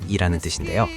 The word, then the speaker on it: 방아: So why does Gyeongsang call it 'banga'? Originally it was called 'bangha,' for resembling mint. 'Bang' for flowering, 'ha' for lotus. But in Gyeongsang's distinct pronunciation, a vowel slipped away, and 'bangha' became 'banga.' Standard speech, herbal medicine, and